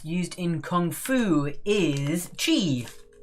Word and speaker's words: qi: in kung fu is chi it's spelt qi but you say it is t male and